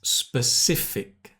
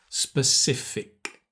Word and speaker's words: specific: Another challenging word is specific. It's got the k, specific.